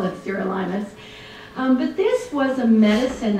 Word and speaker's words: Sirolimus: rapamune or Sirolimus, or if you actually look in Wikipedia, it's phonetically spelled out as Sirolimus, though my Pfizer contacts call it Sirolimus, so I call it Sirolimus.